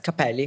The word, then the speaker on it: Cappelli: Yes, Cappelli.